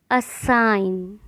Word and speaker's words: assign: ऐसी स्पेलिंग जिसमें जी है लेकिन उसका उच्चारण या प्रोनाउंसिएशन नहीं किया जाता। साइन, कैंपेन, कैंपेन अभियान। डिज़ाइन, resign, foreigner, assign.